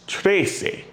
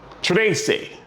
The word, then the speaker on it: trece: Again, 11 is once, 12 is doce, 13 is trece, 14, catorce, and 15, quince.